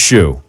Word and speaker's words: Hsu: Shu. HSU. Yeah, but it's pronounced Shu.